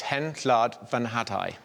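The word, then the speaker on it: Hen Wlad Fy Nhadau: So it's Hen Llad Fy Nhadau.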